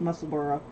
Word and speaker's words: Musselburgh: a teak and it's musselburgh um spelled musselberg but um we get yeah when we don't pronounce it correctly but it's like Edinburgh it's musselor hello I've